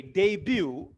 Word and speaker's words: debut: have been shot right and by the way debut d-u-b-a d uh in this case my friend